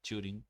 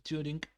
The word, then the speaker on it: Turing: Esta noción de cómputo entonces se formula en el 1936 por un matemático inglés que es Alan Turing, o sí, Turing, me parece que es la pronunciación correcta.